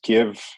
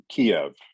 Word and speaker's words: Kyiv: this it's ukraine and it's give not kiev is that correct as well yes absolutely right and that is the uk ukraine pronunciation instead of the russian pronunciation yes absolutely okay so